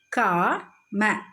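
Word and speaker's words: काम: when there is no long sound at the end of a word, the last sound a is not pronounced. அதாவது இப்போ example, கா ம, காம் அப்படின்னு தான் படிக்கணும்.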